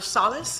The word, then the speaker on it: Solis: We'll begin with Captain Roger Solis. Am I pronouncing that right, sir? Solis is correct.